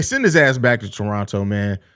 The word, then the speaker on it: Toronto: Listen, bro, they send his ass back to Toronto, man. Or Toronto. I'm sorry. The Canadians always correct me, especially apparently you're not supposed to pronounce the second T.